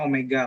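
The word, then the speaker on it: ω: Jadi kita sudah dapat omega, kemudian tadi kan kita punya rumus tuh di halaman 41 tadi ya, bahwa omega itu kayak W ya, tapi membacanya omega kalian.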